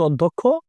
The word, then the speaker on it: অধ্যক্ষ: আমাদের এখানে আসছে অধ্যক্ষ আমাদের শুদ্ধ উচ্চারণ হচ্ছে অধ্যক্ষ এখন অধ্যক্ষ বানানে দেখেন